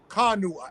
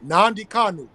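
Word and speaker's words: Kanu: k a n u k a n u uhuh yeah not nanu that's it yeah that's it political prisoner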